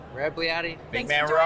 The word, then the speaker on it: Rebagliati: I'm saying it right? Rebagliati. That's it. Rebagliati.